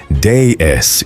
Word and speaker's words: DS: The Citroën DS, pronounced déesse in French, which sounds exactly like déesse, the word for goddess.